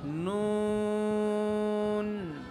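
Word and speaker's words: نون: নুন বলার সময় কি করতে হবে? ঠোঁট গোল হয়ে যাবে। গোল কেন বা জানো? নুনের বানান করতে নুনের উপরে পেশ ছিল, পেশ উচ্চারণ করতে কি হয়? ঠোঁট গোল হয়, এই জন্য গোল করতে হবে।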